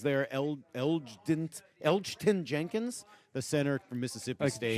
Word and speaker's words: Elgton Jenkins: Elgton Jenkins, the center from Mississippi State. G is silent.